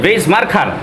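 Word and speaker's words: vais marcar: এই শব্দটি তিনি বলেছিলেন পর্তুগিজ ভাষার এই শব্দটির উচ্চারণ হচ্ছে ভেইজ মার্কার। এই যে ভেইজ মার্কার যেটা এটা ইংরেজি ভি এর মতই উচ্চারণ হয়।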